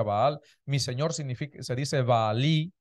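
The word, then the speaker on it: בעל: Baal, Señor en hebreo se dice Baal, se pronuncia Baal, mi Señor se dice Baalí, ¿sí?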